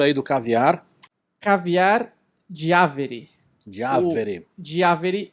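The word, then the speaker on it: Giaveri: Diaveri. Diaveri, e o Instagram deles é caviardiaveri.brasil. Diaveri só pra... como é que se escreve aqui?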